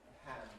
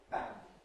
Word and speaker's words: pan: That is to say, the plosive is followed by a brief puff of breath.